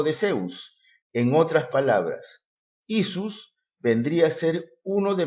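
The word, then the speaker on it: Ἰησοῦς: En el griego, hemos visto que el nombre del Señor Jesús se pronuncia como Isus, y los mesiánicos y judaizantes lo presentan como si fuera un nombre compuesto, algo que no es cierto.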